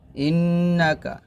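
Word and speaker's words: إنك: আলি ইব্রাহিম এরকম তারপর হামজা নুন ইন্ নুন জবর নাহ কাফ জবর কা ইন্নাকা হা জবর হা মিম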